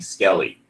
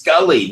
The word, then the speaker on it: Scully: for some reason he could not pronounce Scully correctly he kept he kept saying Skelly we kept and and the Italian dubbing director was like it's Skully not Skelly and you know say